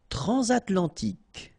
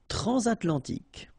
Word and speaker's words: transatlantique: Transatlantique. Okay, so at the end, tic. Remember, Q-U-E-K. Okay. Transatlantique. Transatlantique.